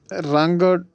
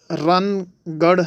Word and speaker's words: رنگڑ: History. سامعین، رنگڑ تشریح، رنگڑ کے کیا مطلب ہے، اس کی تشریح۔ درست لفظ رن گڑھ ہے، ہریانوی تلفظ میں یہ رنگڑ بولا جاتا ہے۔ اصلی اور نسلی